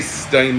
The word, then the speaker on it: Sodom: I want to say Sodom, that's the proper way to say it. There's no reason to say it wrong.